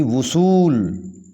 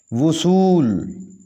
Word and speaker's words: وصول: وصول، صحیح ادائیگی ہوگی وصول، واو کے اوپر پیش آئے گی وصول۔ ناراضگی، صحیح لفظ اور